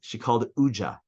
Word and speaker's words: UJA: She called Uja. So Uja is UJA. If you pronounce the letters, nobody usually does that, except the woman who doesn't know what UJA is.